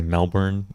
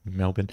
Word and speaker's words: Melbourne: Melbourne Melbourne yeah yeah you got to say it the right way because Americans say Melbourne Mel but Melbourne he he yeah it's